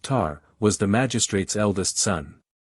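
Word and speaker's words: Tae: the tribe the child whose name was Tay pronounced tar was the Magistrate's eldest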